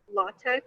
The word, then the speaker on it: LaTeX: taught me to use a code called LaTeX or LaTeX. There are a couple different ways people pronounce it.